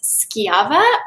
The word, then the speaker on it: Schiava: They don't know how to pronounce it. It's Schiva, so people get confused on how to say it, but it's Schiava, and yeah, it's one of my go-tos.